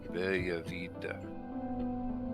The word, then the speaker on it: Bella Vita: Zycor says you have to say it like an Italian, so Bella Vita. And do the hand wavy thing.